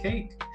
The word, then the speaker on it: cake: a cake that's it that's how you say cake e silent is a silent E and then c a